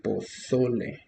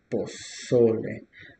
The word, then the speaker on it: pozole: The stress is in the second syllable, pozole. So here we go, pozole. So just for you to remember, the stress would be in this syllable, pozole.